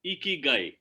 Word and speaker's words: Ikigai: Yeah, how do you pronounce it, Deepak? Awesome. So it's very simple. It's Ikigai.